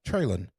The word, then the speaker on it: Treylon: so you just hope treylon burke can be there yeah treylin sorry treylin bert treylin that's apparently that's how he pronounces it ignore that o